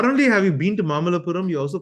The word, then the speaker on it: Mamallapuram: Oh, Not only have you been to Mamalapuram, you also pronounce that perfectly, which a lot of people in yeah.